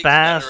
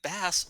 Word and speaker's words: Bass: I always pronounce him as Bass, because in the original Mega Man games, when they first added voice acting, they pronounced it as Bass.